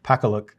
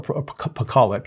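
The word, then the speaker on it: Pakaluk: Catherine Ruth Pacaluk or Pacolic, excuse me, that's how you pronounce it.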